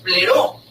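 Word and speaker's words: πληρόω: La palabra lleno en ese es pleró. Pleró, así se dice así se escribe en griego.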